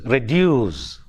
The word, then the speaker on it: reduce: In the same way, we have in a word like reduce, re is a prefix, so that is not stressed. The stress falls on reduce.